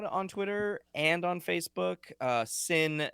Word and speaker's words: Cin: Sin is spelled C-I-N, like cinema, you know. See what you did there. C, a soft C.